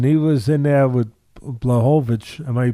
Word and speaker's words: Blachowicz: Now, listen, he was in there with Blachowicz. Am I pronouncing it right? In his last fight? Jan Blachowicz, yep.